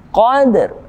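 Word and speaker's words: القدر: lembut lailatin kode Hai ada alif lam yang bertemu denganmu khovd kita hukum tajwid dengan the year Komariah atau alif lam yang kita baca dengan jelas al-qadr ada dan mati Hai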